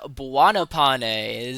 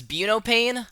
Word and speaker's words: Buonopane: Todd Buanopane. So, oh my god, you're saying it right. Yeah, I I for the longest time I thought it was buoane, but then I saw